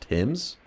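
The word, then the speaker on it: Thames: It's pronounced Tims. The river Tims. Wait. T H A M E S is pron pronounced Tims.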